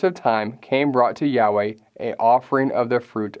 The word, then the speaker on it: Yahweh: scriptures as he intended and based on our best scholarly guess and many others we pronounced that as Yahweh Genesis chapter 4 now